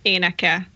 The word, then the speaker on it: éneke: You said the last word perfectly. Éneke. Yes, that's exactly how you say it.